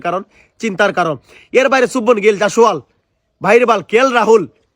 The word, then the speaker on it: শুভমান গিল: ঠিক আছে, আর চুবমান গিল নয়, ওটা শুভমান গিল, যশস্বী যশস্বী জয়সওয়াল।